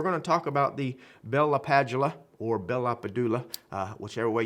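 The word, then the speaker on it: Bell–LaPadula: I think it's actually Bella Padula. I used to work with a gentleman, brilliant guy, that actually met or listened to him speak, and that's how he said he pronounced his own name.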